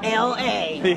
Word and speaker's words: La Romana: It's pronounced La, L-A.